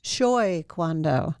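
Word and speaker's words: Choi Kwang-Do: Shoy Kwando, which is Korean, a Korean form?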